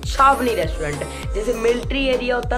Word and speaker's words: छावनी: जैसे military area होता ना उसको छावनी कहते हैं, तो मुझे नहीं पता था उस टाइम कि छावनी भी कोई वर्ड होता है, तो मैंने गलती से उसको मिस प्रोनाउंस करके चवन्नी कह दिया पूरे ब्लॉग में, तो